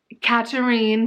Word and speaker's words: Katerine: I'm glad I listened to this on audio because the names are pronounced different than they look. Like, so we have Katerine, but it's spelled like Catherine. And then Arsinoe, which it's spelled like Arsino.